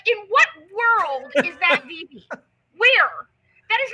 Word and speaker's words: Vevay: and they call it VV, okay? They call it VV. It is actually spelled VEVAY. I'm like, in what world is that VV?